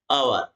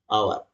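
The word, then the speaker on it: hour: है ये साइलेंट है एच क्या है ये साइलेंट लेटर है इसका उच्चारण नहीं किया जाता है केवल इसको लिखा जाता है उच्चारण यहां से हो रहा है आवर है ना ये वल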